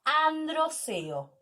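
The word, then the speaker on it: androceo: masculino se conoce como andros ello así se pronuncia andros el sistema reproductor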